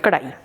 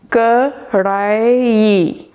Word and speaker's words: Kadhai: It's chicken Karahi, and if you'll notice, it's actually tricky for me to say Karahi because I grew up with Kadhai, and I know it's not an easy word to pronounce because of the R bit, or the R bit in the word Kadhai.